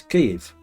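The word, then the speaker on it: Kyiv: of saying is Keith the Russian way of saying it is Keith and we're now saying Kiev and the Ukrainian way of pronouncing it is cave the way we're now being told to say it sounds more like the Russian than Ukrainian whereas Kiev sounds like neither of them like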